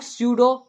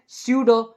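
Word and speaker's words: pseudo: Extra लिख दिया, नहीं, ये पी साइलेंट है। इसको हम लोग स्यूडो सॉलिड पढ़ते हैं, क्या पढ़ते हैं, स्यूडो सॉलिड।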